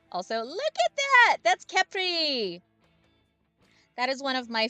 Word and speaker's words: Khepri: His name is Khepri. Or Khephri, depending on pronunciation, but I think it's Khepri.